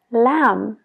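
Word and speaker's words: lamb: se pronuncia la B es cuando viene después de una m como en las palabras clim de escalar clim Sam de pulgar thum entonces paramos la palabra justo donde está la m ignora la B completamente a la hora de pronunciarlo pero no te olvides de escribirlo eh lam de cordero lam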